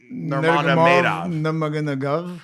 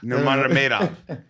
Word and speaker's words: Nurmagomedov: Habib Nurmagomedov. Nurmagomedov.